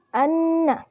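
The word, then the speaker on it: أنّا: Lalu selanjutnya anna. Pada lafaz anna di sini merupakan gunnah. Karena apa? Karena terdapat nun bertasydid. Huruf gunnah sendiri ada 2, yaitu nun bertasydid dan mim bertasydid. Dibacanya dimasukkan atau didengungkan. Anna.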